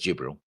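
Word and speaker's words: Djibril: Jibril, or just Jibril, because a D is silent, I suppose, claims that destroying the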